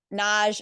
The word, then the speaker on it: Nagy: Tick Tock I'm at Naj my last name is spelled n-a-g-y so dot n-a-g-y